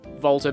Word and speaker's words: Walter: i'm gonna kill you volta being encouraging in his own special way and yes according to the katakana it is pronounced like a v not a w i'd rather avoid death